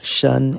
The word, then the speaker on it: 参: This can have a secondary pronunciation of shen, as in ren shen ginseng.